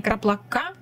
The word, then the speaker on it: краплак: Кстати, правильно говорить не краплака и краплаком, а краплака. Потому что краплак, слово лак, это есть лак. Это с немецкого, и оно так и звучит, краплак. Поэтому ударение на этом слове, в этих словах, вернее, будет краплаком, а не краплаком.